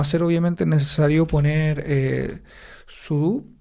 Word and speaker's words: sudo: con su pero después cuando llegó sudo eh o sudu como como como se pronuncia cierto eh Ya fue